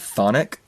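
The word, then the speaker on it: chthonic: if yall maybe know the word thonic which is spelled CH t h o n i c which means of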